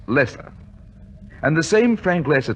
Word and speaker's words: Loesser: song one Frank Loesser the name is spelled l OE SS ER but is pronounced lesser and the same Frank